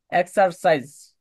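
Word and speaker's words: exercise: তবে সাইজটা আছে সে মানে সাউন্ড না বলে জ বলবেন। জ এর উচ্চারণ আর কি।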